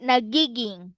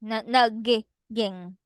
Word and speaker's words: nagiging: We pronounce it nagiging, nagiging, Nag what? nagiging. Nag It's like a one word.